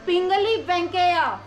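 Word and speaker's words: पिंगली वेंकैया: बेटा पली bank no आपने प्रोनाउंस गलत किया है पली back it's पिंगली वेंके पिंगली वेंके पिंगली पंगली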